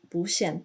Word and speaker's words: 不: And again, the 不限 turns into a second tone here because 不限.